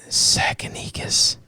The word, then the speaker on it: Tsakanikas: I got rid of the Z good. and the silent T and everything else in there.